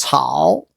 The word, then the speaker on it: 艸: It's pronounced as 草.